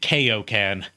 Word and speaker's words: Kaioken: OG Dragon Ball Z they always pronounced it kayokan wow it goes to